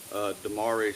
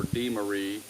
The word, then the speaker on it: Demaree: Today I want to talk about something called Demaree Split, or Demaree, or Demaree, or however you want to pronounce the word Demaree. That's how I pronounce it.